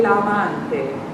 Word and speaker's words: l'amante: Now, these A vowels are really sounding big old Mississippi A vowels. Quel che l'amante. Quel che l'amante. L'amante. L'amante. There it is. That's an A vowel.